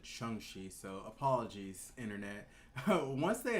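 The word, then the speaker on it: Shang-Chi: uh and actually heard kevin feige today said pronounce it shanxi so apologies internet once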